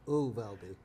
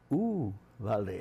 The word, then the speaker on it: Uvalde: Uvalde. Yeah. We pronounce the U as a U. Uvalde. Uvalde.